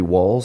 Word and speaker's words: Wahls: Google Ted X Terry walls I'm sure that will come right up again her last name is spelled w a LS not the uh not like running your head through brick walls moving right along next